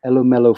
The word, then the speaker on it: Elumelu: Corporation, and the Access Bank, and the Tony Elumelu Foundation. Did I Yes, pronounce that correctly?